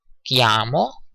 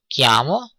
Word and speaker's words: chiamo: You have noticed that kiami or chiamo, which is written chi, is pronounced k.